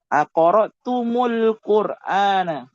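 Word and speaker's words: أقرأتمُ القرآن: Jadi cara bacanya apa? Jadinya seperti ini. Aqra'tumul Qur'ana. Aqra'tumul Qur'ana.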